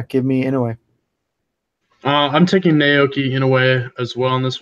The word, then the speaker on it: Naoki: You don't have to enunciate every syllable. Naoki. Naoki. It's Naoki.